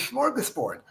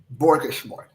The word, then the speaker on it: smorgasbord: And I said, Andy, I don't want to mispronounce the word. I know the word is smorgasbord.